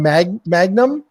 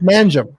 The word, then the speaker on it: Mangum: I want to call him Magnum, but it's Mangum.